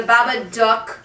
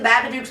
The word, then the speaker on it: Babadook: um but anyway the babadook dog because it rhymes with a book and look is it's not only